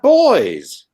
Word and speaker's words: buoy: know sir city you you don't have boys you have a beauty what do you mean the way you pronounce buoy yeah we would call it a boy oh really really I